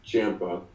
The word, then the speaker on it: Ciampa: Apparently he never chose to correct anyone until recently, but yeah, it is Ciampa. So I'll do my best to fix that. And everybody spells his first name wrong too.